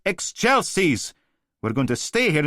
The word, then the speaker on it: excelsis: Benedictus qui venit in nomine Domine, Hosanna in excelsis. No, no, damn it, Oliver! The exasperated voice of some poor sod trying to make a kid do what it's told. How many times? It's pronounced excelsis.